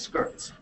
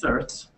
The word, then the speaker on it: certs: Then we have certs, sometimes mispronounced as skirts. It's certs.